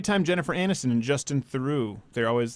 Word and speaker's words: Theroux: You should know how to pronounce that. It's not Theroux. It's Theroux.